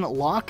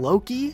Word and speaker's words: Locke: a lot of people refer to a Spartan Locke as Spartan low-key no the main dude from